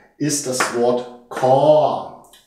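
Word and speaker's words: คอ: Eine weitere Vokabel mit diesem Buchstaben, dem K, ist das Wort Kor. Kor im mittleren Ton ausgesprochen.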